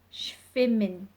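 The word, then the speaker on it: schwimmen: very somewhat in German shaming swimming swimming if you see the sound at the beginning is a Shh sound need to get that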